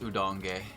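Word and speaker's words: Udonge: Insanity are your job that's pronounced udong udong I'll leave this to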